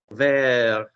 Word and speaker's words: vers: Je peux voir les bouteilles de vin vers la gauche Pronunciation, vers. vers Did somebody called Brendan not tell me earlier how ER is pronounced?